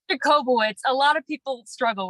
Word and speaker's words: Jacobowitz: screw it up or butcher it or it's jacobo it's a lot of people struggle with it it's